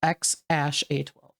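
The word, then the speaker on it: X Æ A-12: And how do you pronounce it? X. That's it? The first part is X Ash A12.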